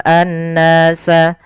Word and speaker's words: الناس: Kemudian pada lafal an-nasa di sini ada alif lam syamsiyah, yaitu alif lam yang kita tulis tapi tidak dibaca, langsung ke huruf nun yang tasydid.